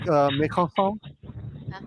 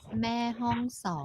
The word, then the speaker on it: Mae Hong Son: You know, these guys, they're from like Mekonsong. Yeah. How do you say the name of the town? Mekonsong? What? Mae Hong Song.